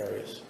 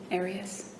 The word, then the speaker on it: Arias: Have you always pronounced it Arias? I've heard it pronounced about seven different ways. Um, I say Aras as does the rest of my family.